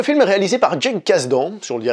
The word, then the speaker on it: Kasdan: Donc le film est réalisé par Jake Kasdan, si on le dit à la française, ou Jake Kasdan si on le prononce de manière un petit peu plus correcte, qui est le fils